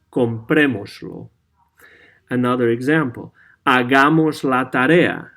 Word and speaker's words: comprémoslo: As you can see, we attach lo to the verb, and we put an accent on the third from last vowel.